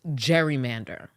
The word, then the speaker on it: gerrymander: salamander looking District okay so that's where we get the name Gary Mander from which eventually as time went on started becoming uh pronounced gerrymander that's the history behind